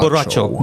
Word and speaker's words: borracho: Oh, borracho. Nando. that's- Got one right. Good job. You're supposed to roll the R's. Hey, Borracho. There's a character in Mortal Kombat named Borracho. Borracho. there you go. Borracho.